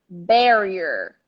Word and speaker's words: barrier: so the intonation is the stress is here barrier not ba okay but usually that's